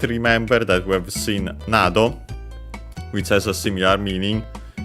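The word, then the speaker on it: など: Nado, by the way, accented on the first syllable.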